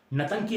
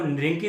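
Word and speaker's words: Ntangki: कौन सा national park, नतंकी national park. बहुत सारी जगहों पे आपको निरंकी देखने को मिलेगा, लेकिन जो प्रोनाउंसिएशन है इसकी ओरिजिनल वो है नतंकी नेशनल पार्क।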